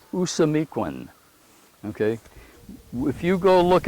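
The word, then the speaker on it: Ousamequin: was yellow feather and the way he would say his name in his language was usamiquen okay if you go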